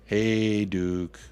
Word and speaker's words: Hajduk: That's how we pronounce the hockey player Hajduk. Hajduk.